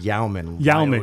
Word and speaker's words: Jaumann: It's actually pronounced Jaumann. Jaumann. But spelled with a J.